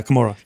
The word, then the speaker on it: Camorra: Yeah, Camorra.